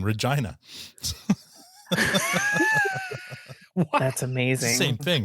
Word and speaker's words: Regina: We'll see what Coincidentally, while you're in Minikin, I'll be in the city that rhymes with fun, Regina.